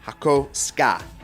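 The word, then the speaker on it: Hakosuka: at Cars and Coffee it is definitely pronounced hako ska trust me take it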